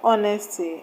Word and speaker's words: honesty: For example, the word honesty has a stress on O, H-O, O.